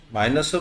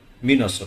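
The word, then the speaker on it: Minos: মাইনাসও বলে মিনসও বলে। দুইটাই কারেক্ট। মিনস হচ্ছে আমেরিকানরা বলে ব্রিটিশরা বলে মাইনাস উনি হচ্ছে ক্রিটের রাজা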